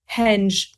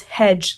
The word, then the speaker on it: Hedge: the street name that it's not henge it's hedge like a bush if you're not local